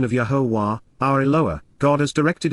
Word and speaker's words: Yahowah: camp by those showing great hostility, and, then, Yahowah, the proper pronunciation of Yahowah, our Eloah, God as directed in his Torah,